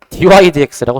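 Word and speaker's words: dy/dx: 그래서 이건 분수로 받아들이시면 안 돼서 저거는 y를 x에 대해서 미분하는 뜻으로 이거는 dx분의 dy라고 읽는 게 아니라 위에 있는 것부터 얘기하는 거야. dy dx라고 써주면 돼요. 여기 dy dx.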